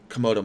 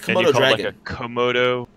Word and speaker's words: Komodo: comma do I think like Komodo like a komodo dragon that's what that's how